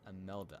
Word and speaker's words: Imelda: Is it Imelda, right? Or Imelda? Imelda. I feel like it's Imelda.